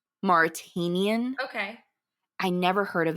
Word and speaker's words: The Mauritanian: It looks like Martian or a Manchurian, but it's I believe it's pronounced the Mauritanian. Mauritanian.